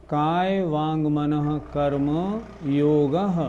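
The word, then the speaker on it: कायवाङ्मनःकर्म योगः: कर्म अलग बोलिए, योग अलग बोलिए। ये अशुद्धि सभी लोग करते हैं, 99% करते हैं। फिर उच्चारण देखें, काय वांग मनः कर्म योगः।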